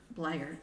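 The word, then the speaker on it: Bleier: Franco Harris, Rocky Blair, or Blair, to say it correctly.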